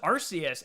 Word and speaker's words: Arceus: like so they were just like nope it's arceus now but i i know what you're saying